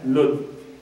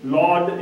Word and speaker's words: Lod: The Prophet, peace be upon him, mentions a city, a town known as Lud. And this city, Lod is how it is pronounced in English, is a place near Jerusalem.